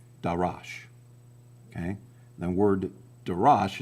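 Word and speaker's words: דָּרַשׁ: they're vocalized a little differently uh and they're pronounced darash.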